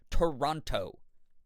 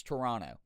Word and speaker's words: Toronto: It's kind of the way that I make fun of people who come up this way and they say Toronto. No one around here says Toronto. Uh, it's Toronto.